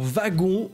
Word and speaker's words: wagon: W se prononce comme un V, y a pas de débat.